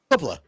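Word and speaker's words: Coppola: it's Francis cage yeah how do you say the name though Copla Copla okay CA Oh I thought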